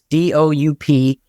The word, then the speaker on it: Doup: It's DOUP, Doup. If you want to get in touch with. Like soup. Yeah. Like soup, but it's spelled like we're said differently, right?